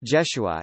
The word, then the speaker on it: Jeshua: from Nazareth John chapter 1 verse 45 Jesus pronounced Joshua in Hebrew is equivalent to the Hebrew named